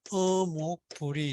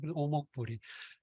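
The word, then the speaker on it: 於穆不已: 근데 요게 이 어가 저기 공교롭게도 시경이나 여기 보면 어목불이 이렇게 돼 있어요. 이런 구절이 있어요. 문왕의 덕을 찬양하는 그 구절을 주. 근데 이때 이걸 어목으로 안 읽고 오목으로 읽습니다. 오목불이.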